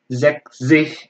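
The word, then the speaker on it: sechzig: Yang lainnya sama, Virsi, Funsi, terus Zekzih ya, bukan seksi, tapi Zek, Zek, Zih, Zeksih, Zeksih.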